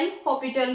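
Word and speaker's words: L'Hôpital: एल हॉस्पिटल वैसे mainly ये बोला जाता है एल हॉपिटल रोल ठीक है इसमें जो एस होता है वो आपका साइलेंट रहता है बट मोस्टली स्टूडेंट्स को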